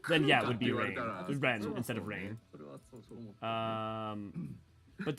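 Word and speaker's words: Raen: No, it's R-A-E-N, so it's Rain. Rain. Ren would be R-E-N in Japanese.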